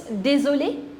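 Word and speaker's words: désolé: But the pronunciation of both of them is same. This is dulli.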